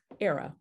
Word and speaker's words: Airea: say it with me era rhymes with sarah sarah from the latin